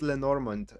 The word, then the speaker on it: Lenormand: The system is called Lenormand. You pronounced it correctly.